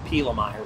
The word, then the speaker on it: Pielemeier: i e uh and my last name is pila meyer so it's p i e l e m e